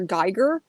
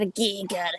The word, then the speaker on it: Giger: Geiger? And I'm like, it's H.R. Giger. And you have to say it like that. Like, that's the only way you can say that fucking name, is H.R. Giger.